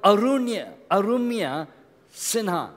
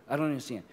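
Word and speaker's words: Arunima Sinha: A person called Arumya Sinha. Anyone heard of her name? She's in Bombay. Her name is Arumya. You can write it down. I'll spell it. A-R-U-N-I-M-A. Her name, Arumya Sinha. S-I-N-H-A. Arumya Sinha.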